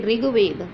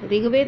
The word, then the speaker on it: ऋग्वेद: बच्चों ऋषि की मात्रा को हम री के साथ पढ़ते हैं, ई की मात्रा का के साथ उसका उच्चारण किया जाता है। जैसे ऋग्वेद, ऋग्वेद नहीं होता ऋग्वेद, गृहस्थ, गृहस्थ नहीं होता